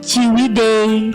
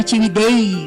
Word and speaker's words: Ciwidey: Itu Ciwidey tapi pakai ejaan lama, TJI BEDEJ gitu kan, bacanya Ciwidey gitu kan.